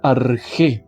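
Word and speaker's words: ἀρχή: Es un sustantivo que se pronuncia arg.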